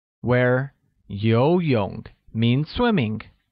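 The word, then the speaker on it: 游泳: will become war Siwon yo young we're yo young means swimming note that yo young uses a mid rising tone on the first though and a falling rising tone on the second oh great the next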